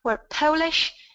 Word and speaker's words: Polish: are listening to talk about polishing CS right we're polish and we polish things I'm sure you can